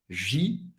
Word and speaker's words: Givenchy: EN em francês tem o som do AN. Givenchy.